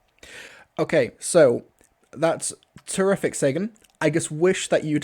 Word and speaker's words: Segun Akinola: But if you're wondering how to pronounce my name, it's Segun Akinola. So one more time, it's Segun Akinola. Okay, so that's terrific, Sagan.